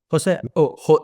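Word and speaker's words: Xosé: Bueno, no, mi nombre es gallego y como sabes, el gallego y porque de eso somos hermanas, así que se pronuncia muy parecido al portugués. Es José.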